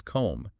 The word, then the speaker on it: comb: for example 73 becomes comb because the B is silent I see so it